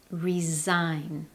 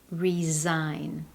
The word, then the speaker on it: resign: Do you notice with the verb that we use to indicate that someone is leaving, the S in the spelling actually sounds more like a Z. Resign. Resign.